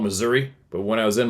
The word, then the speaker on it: Missouri: The first encounter happened at a popular trout fishing campground in southern Missouri. It's funny how it's spelled. We call it Missouri, but when I was in Missouri, everybody says it's Missouri.